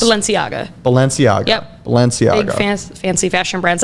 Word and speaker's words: Balenciaga: yeah balenciana lopez valenciaga balenciaga so you really pronounce the g yeah okay cool not lasagna and it's not baloney